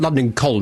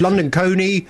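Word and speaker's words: London Colney: It's London Coney. Cooney. No, it's not London Col. You're going to get London Coney.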